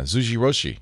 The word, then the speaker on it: Zojirushi: It's I can't even pronounce it. Zojirushi. Oh yeah, Zojirushi.